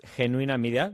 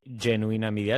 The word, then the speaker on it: Genuína: Yeah, yeah, it's Henuina Media, but we always say genuina media like imagine genuine like the word genuine, but as a a female.